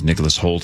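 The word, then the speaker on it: Nicholas Hoult: Luthor that's that one kid I think it's Nicholas Holt is that how he say his name y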